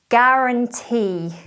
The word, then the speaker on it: guarantee: Guarantee. Don't say gw, just g. Ignore the U. Guarantee. It's spelt G-U, but ignore the U.